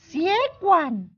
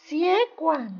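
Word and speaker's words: 血管: siegward Hai pembuluh darah si kuat pembuluh darah hye-kwang sekali temen-temen di rumah ikuti cara bacanya Ya membunuh siegward pembuluh darah siegward pembuluh darah siegward pembuluh darah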